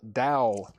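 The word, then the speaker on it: Tao: Rick Springfield Dao uh sealed 1999. Dao. Yeah, it's spelled T AO, but I know it's pronounced Dao if it's like the uh the religion.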